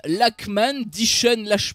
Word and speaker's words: Lachman: Il y a aussi Deacon Lachman, je pense que ça se prononce avec un K, mais c'est une actrice qui est, on va dire, une actrice un peu montante.